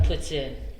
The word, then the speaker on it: poutine: from Montreal so I was just raised on puts in thank you oh I did that again am I pronouncing it wrong yeah you are you would